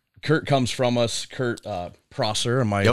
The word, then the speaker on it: Prosser: Kurt Prosser, am I pronouncing Kurt that Prosser, right?